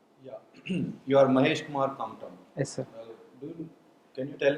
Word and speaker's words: Kamtam: So how do you pronounce it? Kantama? Kamtam. Kamtam.